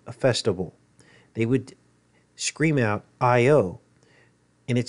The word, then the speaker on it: io: they would scream out IO and it says here even in the Greek it is I and an O is pronounced with two syllables so IO or Yo which then over the